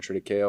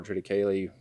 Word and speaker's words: triticale: We planted something called triticale or triticale, depending on how you want to pronounce it.